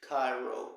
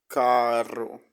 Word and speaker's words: carro: this pronunciation in spanish and they say some cairo kairos you should say caro carro okay guys i